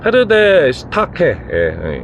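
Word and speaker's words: Pferdestärke: PS는 독일어로 페르데 슈타케, 이렇게 발음한다고 합니다.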